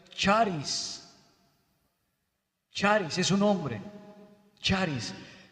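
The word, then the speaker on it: χάρις: palabra gracia es una palabra griega que se pronuncia charis charis es un nombre charis la cual significa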